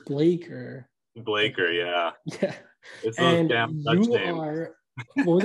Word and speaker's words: Bleker: it's blecker is it blecker or blaker blaker actually okay because i've heard i hear everyone say blaker but i've also heard some people say blacker and it looks like blacker the people who don't know how to pronounce